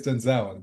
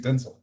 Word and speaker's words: Denzel: That's when No, I because in my head it's always Denzel, but it's actually Denel.